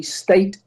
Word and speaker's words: Stait: just to clarify my my name is actually state st AIT oh my apologies no